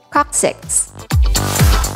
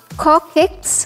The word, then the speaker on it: coccyx: how you'll pronounce nemesis coccyx the scientific term for tailbone it's not copics or cosex but the correct pronunciation is six short i and not long e sound we hope this was